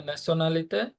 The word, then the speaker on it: Nationalité: Quelle est ta nationalité? Je suis Bangladesh. ওকে, এখানে নাসিওনালিতে শব্দটা দুইজনেই ভুল করেছেন, উচ্চারণ হচ্ছে নাসিওনালিতে। যখন কোনো Nationalité.